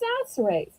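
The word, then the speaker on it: Chachere's: it could be pronounced Sasserays. Well, here's the scoop. When we pronounce French words, C sounds like an S, unless there's this little number five thing under the C, which is called a cedilla.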